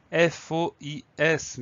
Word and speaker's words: fois: On peut l'écrire F-O-I, F-O-I-E, mais celui sur lequel on travaille aujourd'hui s'écrit F-O-I-S. Donc on a une jolie lettre muette à la fin, le S qu'on n'entend pas.